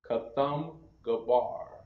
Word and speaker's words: Kathumgabar: Pronounce Kathumgabar.